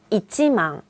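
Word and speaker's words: 一万: 근데 일본어에서는 꼭 1만이라고 해주셔야 돼요. 이치망. 예를 들면 다 계산하고 만엔입니다 라고 할 때요. 망엔데스 라고 하면 안 돼요.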